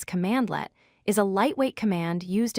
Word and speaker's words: cmdlet: A cmdlet, which is pronounced as commandlet, is a lightweight command used in PowerShell to perform a specific action or task.